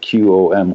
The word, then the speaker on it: Qom: I would agree with what you said, Ben, because, Mashhad and also Qom, the city of Qom, that's spelled Q-O-M, Qom, in central Iran, are both very religious cities, very traditional sites of pilgrimages for Shia Muslims.